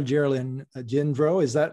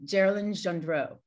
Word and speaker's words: Geralyn Gendreau: But the way to remember it is it rhymes with Marilyn Monroe.